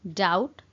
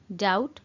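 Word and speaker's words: doubt: मु तुमको संदेह करे आ कहती आई डाउट यू, आई डाउट यू। ये गोटे जिनस नोटिस करेंगे फ्रेंड्स, बी अच्छी बट बीटा प्रोनाउंस कला बेले साइलेंट हो जाए, तो से आम पढ़ू डाउट, डाउट।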